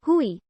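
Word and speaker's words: Huey: from its hu1 designation which came to be pronounced as hui the reference became so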